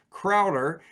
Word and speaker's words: Crowther: is a aaji um Crowder even though his name is spelled uh Crowther uh uh it seems